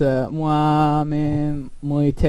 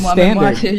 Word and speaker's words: Moi-même-Moitié: So KAMIJO is doing a collaboration with Hatsune Miku, and I don't know how to pronounce this collab. It's Moi-même-Moitié.